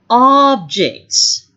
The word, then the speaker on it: object: The first one I would like to discuss is the one having two pronunciation. Is objects, objects. Okay, and that's a noun. And if it's a verb, we would say object, object, objection.